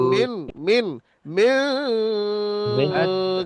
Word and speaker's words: من: আতআমাহুম أطعمهم من মিন, মান নয় ভাই, মিন মিন মিন من জু।